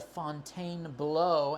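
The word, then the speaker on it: Fontainebleau: Um, I could go stay at the Fontaine Blow. And yes, that is how it should be pronounced.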